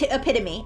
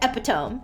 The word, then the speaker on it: epitome: Let's say it was ep epitome, okay? And they pronounced it epiome.